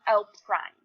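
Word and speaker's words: L′: So L with an apostrophe, and it's pronounced L prime.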